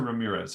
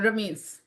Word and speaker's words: Rameez: They would come into your practice and they would say, "Uh, doc, you pronounce it Ramse or Ramirez? How do you pronounce your last name?" Uh, Ramse. Ramse.